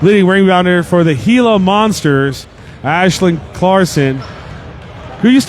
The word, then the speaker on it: Gila: heia is it hea do I pronounce the h the hea monsters hila heila monsters works thank you to Star for that one I will or Hala he oh I'm going to say hila it's like Hilo copter but